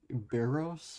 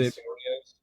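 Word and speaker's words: Berríos: for AL Cy Young, I'm gonna go Jose Barros. I don't know how to say his last name. The dude from the Twins. Jose Barrios.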